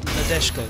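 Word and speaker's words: Nadeshiko: Just say it, and I'll try and recreate the It's just Nadeshko. Nadeshko. Right, Nadeshko. Okay, fine. Imagine the I is not there.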